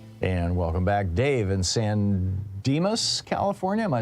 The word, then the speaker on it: San Dimas: Dave in San Dimas, California.